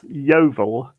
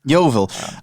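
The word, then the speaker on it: Yeovil: doing I'm good Che and how do you pronounce the name of your town did I say it right um it's YoVille YoVille I have to ask because you know I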